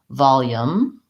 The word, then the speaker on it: volume: it written with this instead volume with a schwa now that goes along with our stress pattern of short of long short volume or volume and so I think it's probably an acceptable American pronunciation I don't personally use